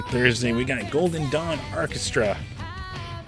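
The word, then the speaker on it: Arkestra: Then Thursday we got Golden Dawn Orchestra. It's Orchestra, if you're wondering if I'm mispronouncing.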